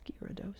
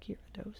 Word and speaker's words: Gyarados: gyarados gyarados gyarados giarados that's how you spell it gyarados but it's gyrados it's kyra dos and gyarados is there